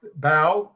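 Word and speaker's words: Bau: Actually, his name is pronounced Bao. Artist at war. Sorry. That's okay. Bao. B AU.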